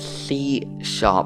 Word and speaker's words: C#: Well, it's called C#, and yes, that hashtag there is pronounced sharp, C#.